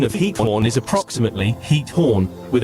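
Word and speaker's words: Giethoorn: The pronunciation of heat horn is approximately heat horn with a gutteral ch sound similar to the German sound. The G at the beginning is pronounced with a soft aspirated H sound common in Dutch.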